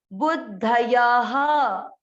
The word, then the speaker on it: बुद्धयः: विसर्ग का उच्चारण कैसे किया जाता है? जो इसका लास्ट अक्षर है उसकी मात्रा पर। य में किसकी मात्रा है? अ की, तो इसको क्या पढ़ा जाएगा? ह, बुद्धयः, बुद्धयः, बुद्धयः।